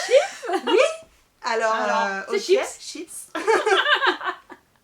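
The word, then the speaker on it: Scheepjes: Quelqu'un peut me dire comment ça se prononce? Chips. Voilà. Chips. Bah oui, chips.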